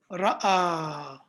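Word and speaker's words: رأى: jalasa, just like kataba, but this one is ra, hamza, and alif, but the alif is in the shape of a ya. Okay, so it's pronounced ra'a.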